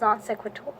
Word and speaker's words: non sequitur: to definition non sequitur don't know how to pronounce that we're saying I'll just say it with confidence it's non sequitur and then we're good equivocation equal a cry